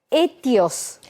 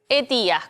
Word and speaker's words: ETIAS: Bueno, vamos a empezar a escuchar hablar de una palabra que se llama ETIOS. ETIAS, correcto.